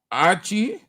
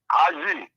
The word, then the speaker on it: Aji: My name is Aji from Bomikante. Archie? Yeah, Aji from Bomikante. Well, pronounce it well. Aji.